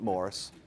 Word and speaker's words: Maurice: Mohr's specifically Morris more even though it's spelled Maurice he did not like the French he pronounced it Morris Morris gets the lion's